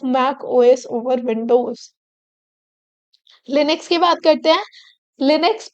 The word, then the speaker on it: Linux: and feel of Mac OS over Windows Linux Linux pronounce Linux is a family of open-source operating system